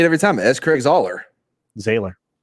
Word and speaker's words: S. Craig Zahler: I'm convinced that Mads is paid by S. Craig Zahler for every time he gets a mention.